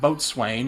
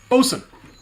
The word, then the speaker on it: boatswain: it's not boatswain, it's, Damn it. Bosun. I think it's pronounced bosun.